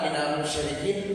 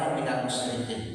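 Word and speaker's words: مِنَ الْمُشْرِكِين: mereka catat yang salah yang sering kena tu di sini w minal musyrikin dibaca dia minal musikin satu.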